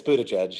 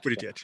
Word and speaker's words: Buttigieg: I probably can't pronounce his name properly, but it's Buttigieg, yeah. Buttigieg, yeah.